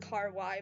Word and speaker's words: kawaii: What the But I don't want you to be burned alive cuz that's not kawaii. It's It's pronounced car y by the way.